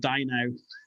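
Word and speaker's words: Dynow: And like I said to you, my favourite thing is the fact that the big evil conglomerate is called Die Now. Yeah, it's spelled D-Y-N-O-W.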